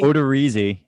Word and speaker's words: Odorizzi: Odorizzi.